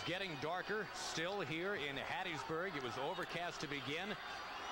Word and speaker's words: Hattiesburg: It's Hattiesburg. You got to put a little phlegm in that when you say Hattiesburg.